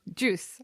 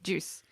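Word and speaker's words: Guus: Juice. Why do I always say it's a J sound, say isn't it wrong? It? I think you're That's right. That's how they say it, yeah. Juice.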